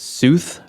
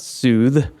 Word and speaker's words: Sooth: My stage name is Sooth, rhymes with truth. Just real quick up top, it's not Soothe. Yeah. For all those wondering, I get a lot of that, and doesn't have an E on the end.